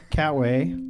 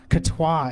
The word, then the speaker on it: Catois: and we have Michelle Catway, our timer. I said it wrong though, didn't I? Catois. It's such a fancy way to say it, and I said it so wrong.